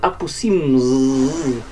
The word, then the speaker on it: Aposimz: On va parler de apoy et la planète des marionnettes. On peut aussi le prononcer Aposim si vous souhaitez faire exister le S dans ce nom.